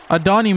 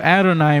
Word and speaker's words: Adonai: from the 12 and I heard the announcer call Adon Mitchell Adonai Mitchell so I guess I was mispronouncing his name so apologies for that